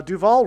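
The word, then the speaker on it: Duvall: Uh Duval rhymes with Hall.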